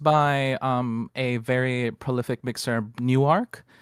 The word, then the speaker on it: Niuarx: This song was mixed by a very prolific mixer, Newark. It's spelled Niuarx.